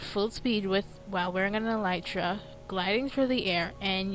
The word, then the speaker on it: Elytra: Now, an item was added to 1.9 that also can be enchanted with Unbreaking, and it's called the Elytra, as pronounced from the wiki. Yes, it's pronounced Elytra.